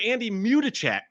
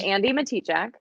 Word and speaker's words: Andi Matichak: Yeah, no, so it's Andi Matichak. Matichak, yes. Matichak, yeah. I know everyone says Matichak.